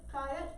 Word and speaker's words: fiat: They also printed fiat or fiat, depending on your pronunciation. Either way works for it, though. The dictionary says either one is fine, either one is fine in the dictionary.